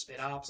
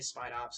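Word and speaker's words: Spidops: Yeah, it's I think it's pronounced Spit Ops actually, but I just say Spite Ops because it's like I think it's supposed to be like special ops, like special operatives, but that's a spider.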